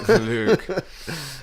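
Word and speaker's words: Luuke: him in the book, he was spelled with 2 U's. Luke. It's like Bruce Lee.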